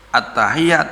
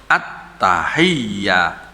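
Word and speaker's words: التحيات: tanya di tasbih tadi bacanya harus at-tahiyyah ndak boleh atahiya Enggak boleh tuh karena data statenya jadi bunyinya harus at-tahiyat attahiyatul al-mubarok atuh sholawatu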